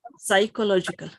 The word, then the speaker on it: psychological: When you see an S, psychological. Psychological.